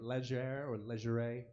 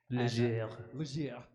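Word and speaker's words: Légère: So the new album, Cure the Jones, out since April on, I always say it wrong, I'm pretty sure, Leisure Records. Leger.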